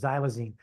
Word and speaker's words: xylazine: You can see how it's pronounced, xylazine.